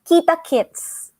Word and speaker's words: kita kits: you um you know some words and they actually rhyme with the name the happy fits because this this phrase that i'm gonna teach you means see you so just say kita kits kita kits yes okay